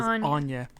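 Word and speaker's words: Aine: a i n e Annie the previous is it Annie is that how you'd say it you'd actually say it as Anya if it's Irish oh that's how you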